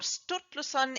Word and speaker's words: Sturluson: the name of stor snorri sturluson or stuttglusson in the modern pronunciation the famous icelandic scholar